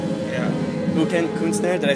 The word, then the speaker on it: Ukendt Kunstner: It's Ukendt Kunstner. But yeah, I think there is a constellation in the second word with what is it, NSTN, like in a row.